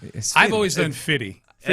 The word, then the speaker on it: 50 Cent: too hard to I think that's just how it's pronounced. You just don't even say the scent anymore. Just say fitty.